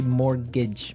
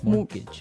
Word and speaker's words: mortgage: with a t yeah it has a t in it but you don't pronounce it you say morgage morgage so not Mort mortgage